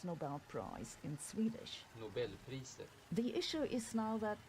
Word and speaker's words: Nobelpriset: A Nobel Prize was awarded for this discovery in 2011, and by the way, here's how they pronounce Nobel Prize in Swedish. Nobelpriset.